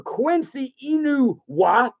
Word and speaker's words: Quincy Enunwa: the office, so I didn't mess up the pronunciation of this name. Receiver Quincy Enunwa is healthy and ready to go.